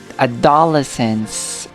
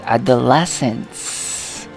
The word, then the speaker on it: adolescence: Siguro sa pangalawa ulit, no? Adolescence. Okay? But the correct is on the third. Okay? It should be adolescence.